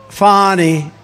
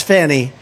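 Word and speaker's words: Fani: right is anybody fonny it's pronounced fonnie F A ni I that's Fanny but she likes it fonny when she became the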